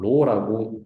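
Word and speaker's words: rho: 요거 보면은 요거 뭐라고 읽는지 아세요? 피어슨 코릴레이션 코에피션트라고 부르기도 하고 로우라고 읽기도 합니다.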